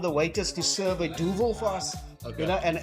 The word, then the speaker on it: Duvel: say Duvel, you can say Duval. You can say Gaivel. So So Duvel dialects to devil in Flemish.